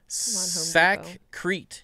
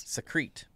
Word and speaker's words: Sakrete: Sakrete is how you say it. Yeah, Sakrete. Secrete. Not like secrete, but Sakrete.